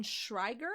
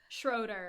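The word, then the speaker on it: Schraeder: He will be coming back and bringing back with them the Baroness von Shriger. I want to say her name is. Schroeder.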